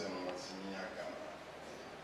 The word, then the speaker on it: Emomotimi Agama: My name is Emomotimi Agama. Just wanted to pronounce it properly.